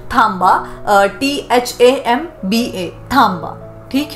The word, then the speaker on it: थांबा: ठीक है, इट इज a Maharashtrian Marathi word pronunciation, थांबा, THAMBA, थांबा।